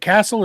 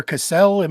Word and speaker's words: Castle: And Castle, am I saying is it Castle or Cassell? How do you say it? You're muted. Yeah, there you go. Yeah, you can say Castle.